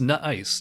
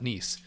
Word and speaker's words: N'ice: called not ice Shu it actually is pronounced nut ice not nce uh Belgian dark beer